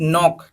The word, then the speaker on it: knock: Next is नॉक, KNOCK, इसमें के silent रहेगा स्टार्टिंग वाला, तो क्या बोलेंगे इसको, नॉक बोलेंगे।